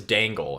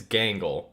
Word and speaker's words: Gangle: G I was thinking it was Dangle. It's Gangle.